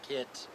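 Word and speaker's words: Keitt: t t okay and it's pronounced a couple of different ways some people pronounce it kit kit we've got uh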